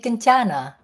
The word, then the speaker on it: Kencana: last name hi sis you can pronounce me kinana ah sorry i i s